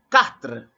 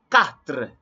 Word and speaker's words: quatre: quatre. Quatre. Don't say quatre. No, it's not quoi. You don't have that in French. Quatre. So in French, Q or QU sound the same as K.